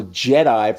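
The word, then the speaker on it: GEDI: global ecosystem Dynamics investigation or Jedi for all you Star Wars fans out there but it's spelled d-e-d-i not j-e-d-i okay and what that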